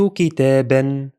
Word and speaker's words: كتابا: اشتريت كتابا. The pronunciation will be as if it's written like this. Notice the additional alif is silent when reading tanween fatha.